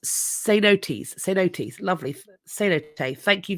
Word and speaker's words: cenotes: It's pronounced cenotes.